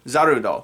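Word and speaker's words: Zarude: the monkey pokemon zaru zarudo that's what i'm gonna pronounce it as because that's what it's pronounced in this film the pack of zaruto they kind of realize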